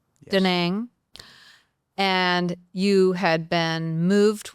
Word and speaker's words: Da Nang: Da Nang.